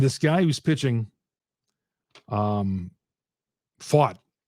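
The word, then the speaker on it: Pfaadt: guy who's pitching um fought I've heard it pronounced like 15 different ways but it's pronounced fought um he's a guy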